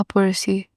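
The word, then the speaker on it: précis: examples ल of examples पर्स writing प व्ट इस पर्स राइटिंग इसमें एस साइलेंट होता है सो प्रसी राइटिंग इ लाइक राइटिंग अ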